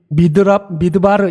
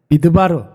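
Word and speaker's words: מדבר: 고백하고 있습니다 여러분 실제로 히브리 말로 광야라는 말은 이렇게 발음을 해요 미드바르 이렇게 발음을 합니다 미드바르 다바르 이렇게 발음을 하는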